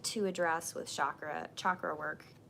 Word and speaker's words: chakra: But one of the things that I like to address with chakra work, I'm trying to learn to say it right, chakra. It's not chakra, it's chakra.